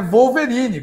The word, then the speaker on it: Wolverine: O carcaju não é como ele é falado em inglês. Ele é Wolverine, com V. Entendeu? É bem diferente.